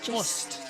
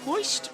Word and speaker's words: Most: Most. It's M-O-S-T. Mo. It's either moist or most or moist. There's many different pronunciations. Okay. Moist is the widely accepted one.